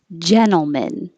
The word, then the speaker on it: gentleman: heard in american english gentleman this is a combination ntl where you don't have to pronounce the t your tongue is already